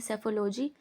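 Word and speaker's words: psephology: इसी उद्देश्य से चुनाव विश्लेषण यानी सेफोलॉजी पी साइलेंट है इसके इसलिए सेफोलॉजी पढ़ते हैं इसको को राजनीतिक संचार के अध्ययन की एक महत्वपूर्ण पद्धति माना जाता है।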